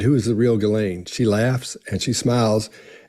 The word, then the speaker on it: Ghislaine: All right, we finally hear how her name is supposed to be pronounced, Ghislaine.